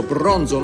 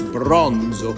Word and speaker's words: Bronzo: Bronzo. This is the right way to pronounce it. Yeah, Italian. The Italian has to be pronounced very smoothly.